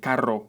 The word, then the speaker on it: carro: for the second pair Caro with one ER means expensive and Caro with two means a car this is a perfect